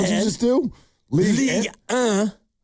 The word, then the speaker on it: Ligue 1: Ligue 1. It's the French league. That's how you pronounce 1 in France.